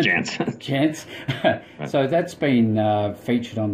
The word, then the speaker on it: Jantsch: Jantsch.